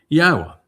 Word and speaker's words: YAHOWAH: YAHOWAH, which is the proper pronunciation of Yod-Heh-Wah-Heh, as directed by his Torah teaching regarding his high existence and our shalom restoration.